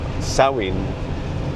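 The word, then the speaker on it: Samhain: And so when so when saw um which is the pronunciation of Sam uh saw sawin um meaning the end of summer.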